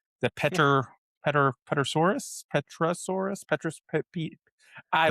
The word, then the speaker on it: Pterosaurus: I'm not even going to attempt to pronounce the Pter Pter Pterosaurus Pterosaurus Pterosaurus Pter Pter I don't know. Silent. The P is silent.